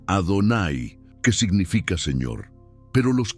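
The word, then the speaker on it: אֲדֹנָי: Las cuatro letras yudi, vabbhei, que no se pronuncian como están escritas, sino que se sustituyen por la palabra Adonay, que significa señor.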